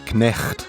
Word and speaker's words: knecht: The Dutch equivalent of the word night is knecht, meaning servant. Notice how in Dutch the K is pronounced.